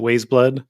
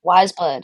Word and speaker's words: Weyes Blood: don't know if that is that how you pronounce it way blood wise blood yeah wise blood okay